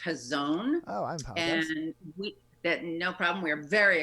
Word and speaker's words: Hazon: off tell us what in normal times does Hays on Detroit do difficult to remember those normal times first up I just want to clarify it's actually pronounced his own no problem we are very accustomed to that